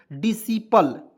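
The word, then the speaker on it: discipline: पी आई एल ई, तो क्या पढ़ेंगे दोस्तों, डिसिपल, ठीक है ना, इसमें सी को साइलेंट कर देना है, ठीक है।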